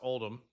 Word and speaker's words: Oldham: Oldham is pronounced Oldham.